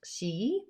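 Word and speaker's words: sidhe: it's a sidhi s-i-d-h-e but it's pronounced she um so it has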